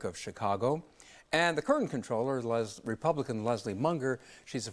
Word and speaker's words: comptroller: on the air that even though it's spelled comptroller, that the common usage is controller, so let's go with common usage.